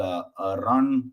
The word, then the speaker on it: Arun: It's spelled as ARUN and as a Nancy, but it's Arun. You say it like it's got a double O in there.